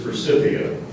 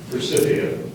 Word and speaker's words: forsythia: The word is forsythia. Forsythia. Are there any alternate pronunciations? Yes, there are. Forsythia and forsythia.